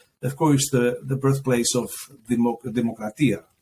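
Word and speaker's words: δημοκρατία: Demos, Demokratia, the word, it's actually in two syllables. It's cut in two. And it's actually one when you say it, Demokratia.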